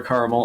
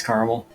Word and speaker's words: caramel: mess up on this someone asked is it caramel or caramel obviously it's caramel no you have to